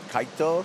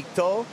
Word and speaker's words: Kaito: His name rhymes with your name. Kaito, Kaipo, yeah. Kaito.